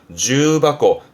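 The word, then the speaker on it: 重箱: 그럼 겹쳐있는 상자 뜻인데 발음이 주바코.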